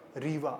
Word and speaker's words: Rewa: Rewa, R-E-W-A, sir. Please spell it.